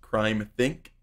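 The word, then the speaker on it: CrimethInc: collective i think it's technically supposed to be pronounced crime think ex-workers collective it says additional copies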